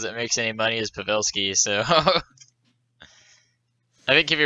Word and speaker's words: Pavelski: right because dad said oh you can't say pavolsky and you know pawlski it's pavelski whatever so pavelski and then